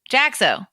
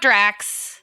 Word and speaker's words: Jaxo: who's that not you jaxo jaxo jaxo jackso gixx some people call me when they can't figure out how the syllables jax and o go together so jackso any